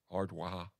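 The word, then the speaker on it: Ard Mhacha: It's pronounced Waha, Ardwaha.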